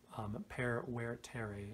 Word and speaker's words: vertere: I know that V's are pronounced as W's. I don't know if the stress was right on that.